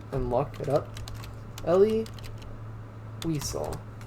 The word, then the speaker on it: Wiesel: lock it up elie wiesel except they're saying Visal that's how I thought you pronounce it too but I normally German